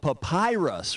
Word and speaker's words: papyrus: That old Egyptian paper stuff is called papyrus, which rhymes with the pie puss.